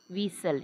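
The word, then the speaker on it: whistle: म्हणजे चाक व्हाईट पांढरा विसल याच्यामध्ये टी देखील सायलेंट आहे विसल मध्ये टीटी सायलेंट आहे.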